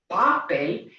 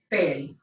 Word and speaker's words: papel: Following rule number 2, our word will have to have its natural emphasis on the last syllable of the word, and so it will be pronounced how? Papel, papel.